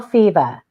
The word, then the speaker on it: Fivaz: Bill Fiva, Fivaz. The Z is silent.